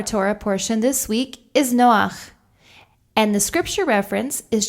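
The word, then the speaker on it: נֹחַ: a vowel sound underneath the vowel sound comes first this is an exception to the rule generally when we pronounce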